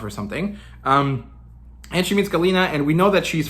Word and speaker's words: Galina: She's eventually back at the perch, and this is when we meet Galina. And actually, I wanna keep calling her Gallina because that's how her name is spelled, and in Spanish that means hen, right?